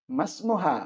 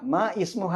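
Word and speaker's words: ما اسمه: what is your name മസ്മുഹ മ ഇസ്മുഹ എന്നല്ല മസ്മുഹ അതുകൊണ്ടാണ് ഇസ്മിന്റെ അലിഫിന് ചേർത്ത് വായിക്കുമ്പോൾ ഉച്ചാരണം ഇല്ലാത്ത അടയാളം കൊടുത്തിരിക്കുന്നത് ആ അലിഫിന്റെ മുകളിൽ നോക്കാം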